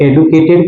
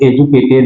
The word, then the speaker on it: educated: Educated, एजुकेटेड, क्या इसको एडुकेटेड कहते हैं, लेकिन वास्तव में ये इसका उच्चारण सही है, वो एजुकेटेड है।